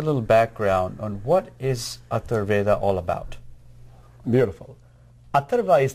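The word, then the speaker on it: Atharvaveda: I have so many questions to ask you, but I know that this particular show is known as Atharveda. Did I pronounce that right?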